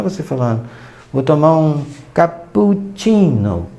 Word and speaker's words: cappuccino: tá brincando ou então a palavra cappuccino italiano também tem dois países e 26 Então significa que as a sílaba aqui I do caput capu e Ninho vão ser prolongada Então imagina você falando